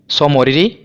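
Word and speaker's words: Tso Moriri: स्थल हैं पहले है देखिए जो ये टी है ना ये साइलेंट है सोमोरियरी और दूसरा है सोकर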